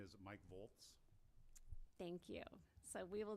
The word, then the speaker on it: Volz: and vice chair uh the name is Mike Boltz thank you so we will then go ahead